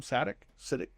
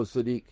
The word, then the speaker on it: Sadiq: Kenyon, how do you pronounce his last name? Siddiq? Oh, Sadiq.